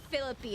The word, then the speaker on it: Felipe: And then they're like, San Felipe, you mean San Philippi? And I'm like, no, hold on. So Philip, I got it wrong in every way you could be wrong. They're like, if you're truly from this area, you say Philippi.